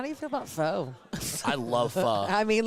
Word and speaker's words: pho: I mean, how do you say that? Pho. It's pho.